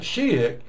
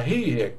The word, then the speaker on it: Ajijic: I tell people to remember it this way. It's not a he-hick, it's not a she-hick, it's a he-hick, you know, like a country bumpkin type hick.